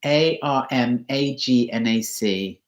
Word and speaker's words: Armagnac: And in case you don't like my French pronunciation, it is Armagnac.